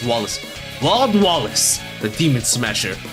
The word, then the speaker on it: Wallace: Oh, they're pronouncing it not Wales, Wallace.